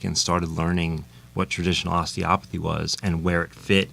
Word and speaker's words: osteopathy: And the- Osteopathy.